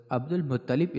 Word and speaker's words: عبد المطلب: یا شیبہ الحمد۔ ان کو عبد المطلب درست تلفظ عبد المطلب اس لیے کہا جاتا ہے کیونکہ ان کو